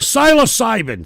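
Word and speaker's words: psilocybin: pronounce this here it is pronounce iation of this here is how do you syas cbin syas cybin thank you very much Jesus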